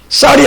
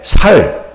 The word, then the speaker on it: 쌀: 제 한번 경제를 발음 못해가지고 나라 다 망쳐먹은 사람이에요. 이 경상도 사람들은 경제가 안 돼. 갱제. 쌀이 안 돼. 살.